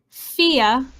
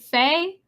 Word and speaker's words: Fe: And get this, it's pronounced Fia. I've been calling it Faye. I've been calling it Fee. I don't know, but it's called Fia, spelled F-E.